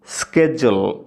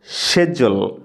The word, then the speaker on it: schedule: আমরা উচ্চারণ করি শিডিউল। এখন শুনুন আমেরিকান উচ্চারণ স্কেজুল স্কেজুল স্কেজুল। এবার শুনুন ব্রিটিশ উচ্চারণ শেজুল শেজুল।